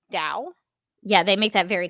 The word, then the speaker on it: Tao: uh tao jones um that's spelled t-a-o not d-o-w so i guess that's pronounced dao yeah they make that